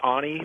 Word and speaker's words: Ani: living and dying uh in the a ni Ani Papyrus if you're familiar with the a ni it's pronounced Ani uh Papyrus of the Oni tablets